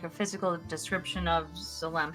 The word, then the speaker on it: Zalam: I want to get a description, like a physical description of Zalam. How do you spell that, by the way?